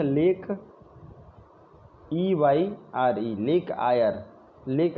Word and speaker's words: Eyre: Lowest point है lake EYRE, lake आयर। Lake आयर lowest point है।